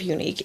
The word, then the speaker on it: Younique: It's YOUNIQUE. Unique, but not like it's normally spelled.